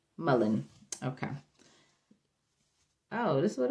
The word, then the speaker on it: mullein: i'm pronouncing it right m u l e i n mullen mullen okay oh this is